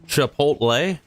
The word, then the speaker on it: Chipotle: It's pronounced Chipotle.